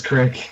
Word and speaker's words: creek: I mean, it can be either. It's spelled creek, Crook, but crick or creek? most of the time I say crick, just because I it's say easier.